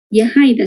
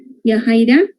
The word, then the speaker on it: Yajaira: Yajaira, se pronuncia así. Yajaira.